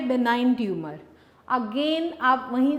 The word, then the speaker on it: benign: जी बेटे, नेक्स्ट हमारे पास टर्म जो हमने मार्क करनी है बेनाइन ट्यूमर, जी साइलेंट है यहाँ पे, बेनाइन ट्यूमर।